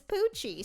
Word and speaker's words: Poochie: could be hype because her name is poochie spelled like gucci of course this is